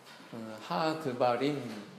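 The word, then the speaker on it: הדברים: 히브리 성경에 보면 하드바림 이렇게 발음하는데 그 말씀들 이런 뜻이라고 그래요.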